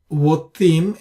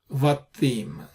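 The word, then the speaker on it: בתים: In all these cases, it is not Votim, it is Vatim. Vatim is not Votim. This is not Qamats qatan.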